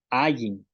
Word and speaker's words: áayin: Entonces estas son las pronunciaciones de la I y la glotal.